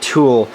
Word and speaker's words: tulle: And yes, it's pronounced tulle, or tulle some people call it too.